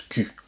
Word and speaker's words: cul: Ouais, ça se prononce cul, comme un cul, comme la cou. Cul. Hein? Le cul, c'est pas pareil que le cou, el cuello.